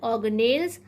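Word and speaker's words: organelles: nails आपको पढ़ना है chloroplast is the cell ऑर्गेनल्स कि क्लोरोफिल इस प्रेसिडेंट यानि कि क्लोरोप्लास्ट उस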